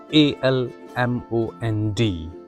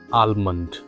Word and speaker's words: almond: The first word we have it is a l m o n d. Many people mispronounce it as almond. But the correct pronunciation of this word is almond.